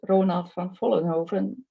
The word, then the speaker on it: Ronald van Vollenhoven: For not Dutch speakers, it's a difficult name to pronounce, but I can pronounce it better because it's Ronald van Vollenhoven. But international, you probably pronounce it differently.